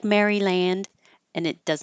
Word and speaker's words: Maryland: slightly different vowels but in the name of the state Maryland it's pretty much me Maryland for everyone Maryland and if you release the D that's fine because it's there and and we looked